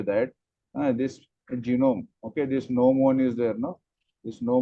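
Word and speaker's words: gnomon: as n one okay noon okay you can see there the spelling is g n o m o n Okay g is silent over there it is called as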